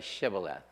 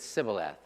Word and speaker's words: Shibboleth: But when you pronounce them, when you pronounce the letters, you do pronounce one with a sh and the other with a s.